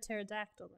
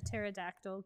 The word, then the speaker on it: pterodactyl: from here for cheese why can't you hear a pterodactyl go to the bathroom i refuse to give that a dignified answer because the p is silent god yeah i know